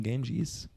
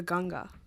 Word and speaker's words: Ganga: I like the name Ganges. It's actually the Ganga. Oh, I'm pronouncing it wrong. Well, that's the westernized way to say it. Mm. But I should say Ganga.